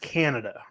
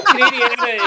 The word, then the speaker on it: Canadiana: Ryan, I think it's Uh, pronounced Canada. No, Canadiana is wow. Okay, never mind. No, we knew it's like Americana.